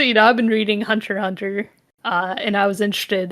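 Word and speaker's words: Hunter × Hunter: know I've been reading Hunter Hunter uh and I was interested in Hunter x Hunter it's it's not you don't pronounce the X but okay why is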